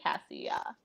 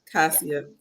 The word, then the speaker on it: Cassia: of Cassia, but with an A at the end. Cassia. Cassia, I Yeah.